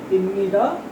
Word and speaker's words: 입니다: We write it ibnida. Okay. But we pronounce it imnida.